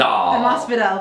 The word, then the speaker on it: Masvidal: Masvidal, thank you.